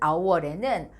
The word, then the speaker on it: hour: 그러면 hour 똑같은 H의 사운드가 여기서는 흐 발음으로 하는 자음 소리가 나고 여기서는 아 소리가 난다는 거지. 그래서 시간을 나타내는 거 1시간, 2시간, 3시간 하는 한국말로 시간을 나타내는 hour에는 1시간을 얘기할 때는 an